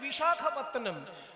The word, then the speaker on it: বিশাখাপত্তনম: বিশাখাপত্তনম, কথাটা হচ্ছে বিশাখ, বিশাখা নয়। বিশাখ আর বিশাখা আলাদা জিনিস।